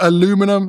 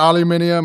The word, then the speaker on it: aluminum: Uh the only one that gets Oh, aluminum instead of aluminium. I've just given up. up. I say aluminum now, but the I I